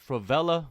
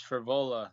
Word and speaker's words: Frevola: by ufc lightweight matt fravella matt it's good to see you again how's life treating you it's good man it's frevola steamroller for vola for vola right yeah oh did i say it wrong uh a little bit